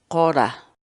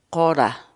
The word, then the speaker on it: qora: de videos en la que te enseñamos a pronunciar algunas palabras en quechua Así que nuestra palabra del día por hoy es hora hora la palabra quechua Ora en español significa hierba